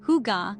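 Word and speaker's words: hygge: Higa, pronounced huga, is the Danish art of coziness.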